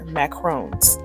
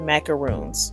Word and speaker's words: macaron: editing this video that I have been pronouncing it incorrectly this entire time the cookie I am making are Macarron not macaroons which is apparently a totally different cookie but it is fun